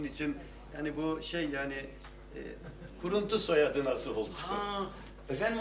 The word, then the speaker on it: Kuruntu: Bu telefonda efendim bu kuruntuyu guruntu anlıyor. Vallahi o çok asabımı bozuyor yani. Yok yok, bakın ben gayet iyi anladım ve gayet iyi telaffuz ediyorum. Kuruntu.